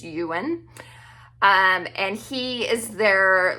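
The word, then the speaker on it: Iwan: His name is Ewan, but it's spelled I-W-A-N, but I'm pretty sure the pronunciation is Ewan.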